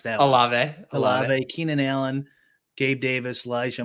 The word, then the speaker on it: Olave: How do you pronounce that? Olave.